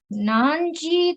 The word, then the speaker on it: 何時: Okay, so what time is it now is ima nanji desu ka? Okay, please listen to the pronunciation.